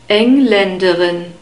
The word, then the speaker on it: Engländerin: in the phonetic script, Engländerin. We have a second A sound after the L and an unstressed E sound and a short E sound at the end, Engländerin.